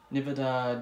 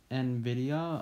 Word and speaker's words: Nvidia: laptop and it also has a Nevada GeForce GT I apologize I actually pronounced it wrong it's actually Nvidia I apologize for the